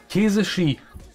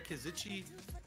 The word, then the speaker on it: Kesici: Käse Ski. Also Käse und Ski. Ja, fällt auf. Weil ja, tut mir leid. Ich mit. Eigentlich heißt es ja Käsitschi, aber wenn das eh